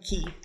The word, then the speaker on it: Key: If it makes you more comfortable, you can call me Key. It's easier to remember. Just kind of points over at Sid. Key. One syllable. Very easy. Key. So very easy. Like Sid. It's one syllable.